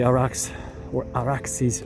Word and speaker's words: Arax: They stopped and they pitched their tents just like Noah pitched his tent at the village of Arax, right by the Araxes River, using the Persian, Akkadian, Sumerian pronunciation. It's Arax, but the derivation is much more ancient.